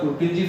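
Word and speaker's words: Purkinje: Spelling अपन कुछ देखेंगे। Pronunciation अलग होता है। इसका प्रोनाउंसिएशन होता है प्रोटीनजी फाइबर्स। देखिए पी यू आर ए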